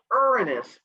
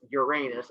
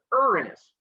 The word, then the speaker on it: Uranus: to pronounce it as uranus and then giggle almost every time i will be pronouncing it the mythology way which is uranus my question is where